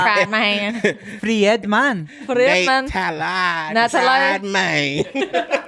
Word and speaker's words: Friedman: It's not fried, man.